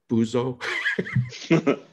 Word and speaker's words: buzo: of laugh at was for in Spanish, it's buzo. Okay. I'm probably saying it wrong, but I always laugh at that. Actually, you pronounce it well, and it's like, funny.